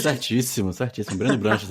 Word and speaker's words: Breno Branches: Bruno Branches é o clássico assim, né? Putz, mudaram do Breno para É, não, o Bruno é a vida inteira estão me chamando de Bruno.